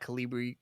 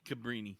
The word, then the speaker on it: Cabrini: is now back at calibri or is it cabrini or is it calibri cabrini cabrini okay i've been saying it wrong pilibri's a font [